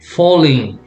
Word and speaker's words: falling: And remember, AL, the sound is all, not al, all, falling.